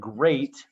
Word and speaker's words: great: don't call it deed watch out for meat and great and threat they rhyme with sweet and straight and debt moth is not a